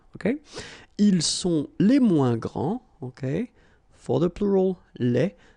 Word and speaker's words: grands: All right, so you don't pronounce this final S. Okay, so one more time. Il est le plus grand, elle est la plus grande, ils sont les plus grands, elles sont les plus grandes.